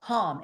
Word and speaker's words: Ham: As we do this, we repeat to ourselves, meaning silently, the syllable hum, H-A-M, or hum, H-U-M, on the in-breath, and on the syllable so on the out-breath.